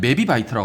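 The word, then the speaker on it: mebibyte: 그래서 MIB는 메비바이트라고 합니다. 메비바이트. 읽을 때 메비바이트라고 읽고 1 메비바이트는 2의 20제곱 바이트예요.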